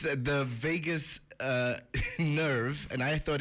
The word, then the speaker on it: vagus: that yes so the vegas nerf i think the only thing it has in common with las vegas is the pronunciation but it's the it's